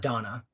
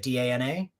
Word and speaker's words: Dana: I saying it right is it Dana it's not Donna Donna but Dana it looks like Dana so sphere we were discussing